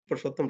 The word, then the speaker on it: Purushottam: one more things I would like to, particularly this is for uh, Purushottam. You pronounce it Purushottam, right? Purushottam. Yes, Yes, sir.